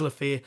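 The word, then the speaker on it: Le Fée: that he'd spoken to LEF or LEF uh I'm going to have to get you to pronouncing that I think it's lefair Leaf's agent who had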